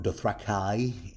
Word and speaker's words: Dothraki: or a warrior like a Dothraki, or Dothrakai, as George R. R. Martin pronounces it.